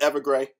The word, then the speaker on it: Ever Gray: me on like pronunciations is it ever gray yes like Everlast but ever gray okay cool from dark